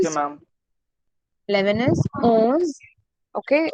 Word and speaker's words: onze: 11 is owns. Okay, listen to the pronunciation. It is owns. Okay, o, not on.